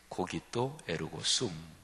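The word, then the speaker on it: cogito ergo sum: 라틴어로 한번 발음을 해보면 유명하죠. 고기또 에르고 숨, 이렇게 발음이 되죠.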